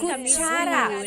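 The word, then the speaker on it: kutsara: Kuchara. Kuchara. Elizabeth is spelling it with C's. So instead of C's in Tagalog, it's K. And TS makes the ch sound.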